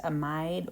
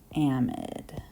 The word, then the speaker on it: amide: the amide, it looks like it would be pronounced amide or amide, but unfortunately this is chemistry, so we have to be a little bit difficult, and we pronounce this one amide.